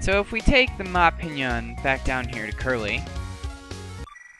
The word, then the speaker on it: Ma Pignon: I'm not totally convinced that that's how you really pronounce it. But, you know, I sort of figured that little GN thing is sort of the Italian pronunciation. Like a lasagna, it's the Ma Pignon.